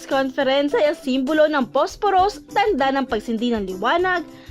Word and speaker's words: Posporos: It's in Spanish, it's pronounced Posporos, and we liked the